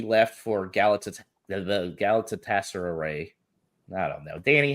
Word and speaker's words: Galatasaray: lamina um he left for Gala the the Galatasaray I don't know Danny how you say it gal Galatasaray you were close enough I was close enough